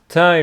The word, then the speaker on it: Thai: restaurant next to it Thai restaurant Thai adjective for Thailand Tha restaurant and it's not pronounced th it is Tha I loved that place